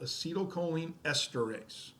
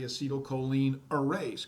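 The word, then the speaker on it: acetylcholinesterase: just a second but I always mispronounce it because I like to say acetylcholine erase because if it really is going to erase the acetylcholine but once that happens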